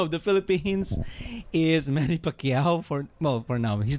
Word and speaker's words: Pacquiao: Manny Pacquiao.